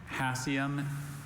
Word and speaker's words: hassium: Hassium is the only pronunciation I have.